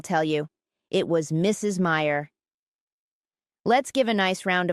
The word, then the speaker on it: Meyer: It will be easy to remember my name because Meyer rhymes with fire.